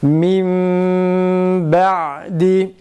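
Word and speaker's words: من بعد: Min ba'di. Min ba'di. Tekrar. Min ba'di. Yalnız mimi ilk mimi okurken hareketini uzatmıyoruz.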